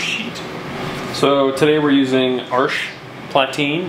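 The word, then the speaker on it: Arches Platine: so today we're using arch platine which is spelled arches but it's french so omit letters um it has a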